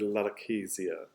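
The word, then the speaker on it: lalochezia: to is this word larakesia that's how it's pronounced it's from the greek lalo for language kizi means um and so language is uh is how you could say lalakesia i think the dictionary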